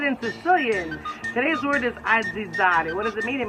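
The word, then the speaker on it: azzizzari: Today's word is aggizzare.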